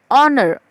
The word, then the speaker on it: honor: Okay, O is but obvious vowel, but here I have written honor. Here, H, the spelling starts with H. But the pronunciation starts with honor.